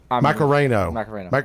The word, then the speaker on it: Macareno: Macareno. Like the song.